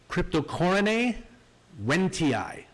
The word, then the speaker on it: Cryptocoryne wendtii: I've seen people say wendtii, all kinds of ridiculous pronunciations for the special name of this plant. So here goes. Cryptocoryne wendtii. Okay? Cryptocoryne wendtii.